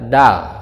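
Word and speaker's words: دال: Biasa dibaca dal, dal, dal.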